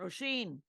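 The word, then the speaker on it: Róisín: Roisin is like raisin, but with an O instead of an A. Roisin.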